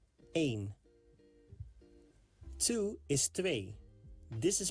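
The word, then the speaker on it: een: One in Dutch is a pronounced like the word main without the M sound at the beginning. Aim two is this is pronounced like tw three is D.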